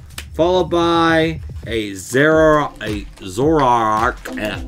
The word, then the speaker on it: Zoroark: by a zara a zoroark azor arc zoroark that's how you say it zoroark all right